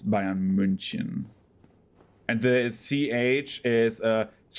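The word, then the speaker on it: München: That's like uh so in like English the English pronunciation bayan Munich but like the um German version is Bayan Munchin because it has an uh on it like the U with the two dots on top.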